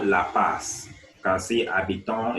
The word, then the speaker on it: habitons: You can see habitons is underlined and it's starting with a silent H.